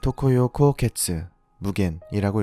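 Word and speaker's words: 常夜孤月・無間: 일본어로는 토코요 코오케츠 무겐이라고 읽습니다.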